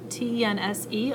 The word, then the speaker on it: tense: T-E-N-S-E, also tense with a silent E at the end.